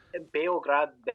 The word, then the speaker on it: Belgrade: So Belgrade, first of all. Belgrade? Sorry, I've been saying that wrong, it sounds like. Beograd, Belgrade, depends on which language you're speaking. That's the pronunciation, or the way that it's even spelled.